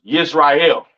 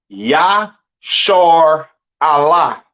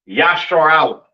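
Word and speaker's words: ישראל: know what I'm saying and Israel is not pronounced yashar is not pronounced Israel in the Hebrew that is not how you pronounce Israel Israel is pronounced yah Allah all right yashar Allah right meaning Prince of the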